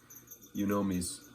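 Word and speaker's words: yunomi: of the shape that i like for these you know me's that's spelled y-u-n-o-m-i not three words you know me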